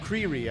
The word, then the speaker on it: Creery: Creery. Am I pronouncing that you right? You are. It's like creepy, but with an R.